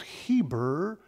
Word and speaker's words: Eber: all the children of Eber and I understand the way to pronounce that is Heber from which we get the word Hebrew right okay the father